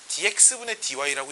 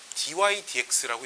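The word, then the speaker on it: dy/dx: df 이 분수가 아니어서 dx분의 dy라고 읽지 않고요. dy dx라고 읽습니다. dy dx라고 읽고요.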